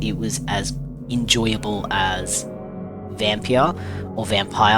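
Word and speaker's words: Vampyr: was as enjoyable as Vampia or Vampire. I'm not sure how you pronounce it. It's got a Y in it so I say Vampia.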